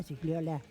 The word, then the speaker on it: Gigliola: Bienvenida, Gigliola. Muy bien pronunciado, un 10 in italiano.